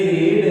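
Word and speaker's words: read: और कुछ ऐसी भी होती है जिनकी तीनों फॉर्म्स समान होती है, जैसे ये रीड है, इसकी सेकंड फॉर्म सेमी होती है, स्पेलिंग लेकिन इसको रेड पढ़ते हैं।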